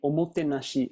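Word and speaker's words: おもてなし: for hospitality, gesturing with each slide and each syllable, saying, O mo te na shi.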